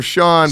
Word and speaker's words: Sean: Wait, But his wait, name Sugar is spelled different. Yeah, Sugar Sean, but Sugar it's Sean, it's but spelled S-E-A-N.